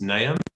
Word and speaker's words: Naim: As Sam said, my name's Naim. For those of you who need a hand with that, it rhymes with Graham. So you go Graham, Naim, and then you'll get it.